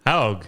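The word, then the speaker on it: Haug: Hog.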